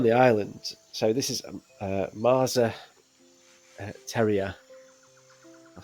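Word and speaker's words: Más a Tierra: So this is Marza Tierra. I'll spell that for you. So MAS with a sort of hyphen above the A. A-Tierra. I think it's pronounced Marza Tierra.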